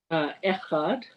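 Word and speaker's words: אחד: Echad.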